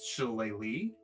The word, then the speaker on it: Shillelagh: Shillelagh. For the record, Drew, it's pronounced Shillelagh, but that looks nothing like what it's pronounced.